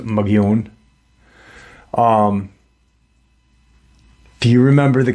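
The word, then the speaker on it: Mogollon: know um why what and the it's actually pronounced um mugon but the Caucasian pronounce it mag galone it's m o g o l l o n but it's pronounced mun um do you remember the cave paintings in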